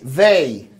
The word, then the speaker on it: they: Não existe essa pronúncia no português, né? A gente, o they, ele é muito mais próximo do de, né? Então a gente quer falar they, né? Porque é o som que a gente tem mais próximo do português.